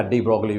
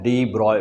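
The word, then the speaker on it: de Broglie: कहते हो आप लोग, जनरली हम लोग बोलते हैं क्या, डी ब्रॉगली वेवलेंथ, लेकिन सही उच्चारण क्या बेटा, उसका प्रोनाउंसिएशन क्या है, डी ब्रॉय वेवलेंथ।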